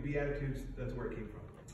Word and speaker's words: Beatitudes: now maybe you wonder what is a b attitude because it sounds different than the way it's spelled if you were a child maybe you think it's a b with an attitude what is that what's